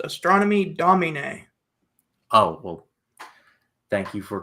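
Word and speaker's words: Astronomy Domine: It's in Latin. It's pronounced astronomy dominina.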